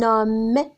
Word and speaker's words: homme: Un homme, on ne prononce pas le H.